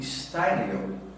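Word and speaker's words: Steuernagel: É um texto escrito pelo pastor Valdir Steinegel, acho que a pronúncia correta é essa, pastor do sul do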